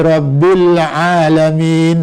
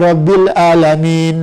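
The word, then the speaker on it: العالمين: Nah, umpamanya Alhamdulillahi Rabbil Alamin. Nah, itu sudah benar. Alam pakai ain. Nanti kalau ada yang membacanya Alhamdulillahi Rabbil Alamin. Nah, itu sudah salah.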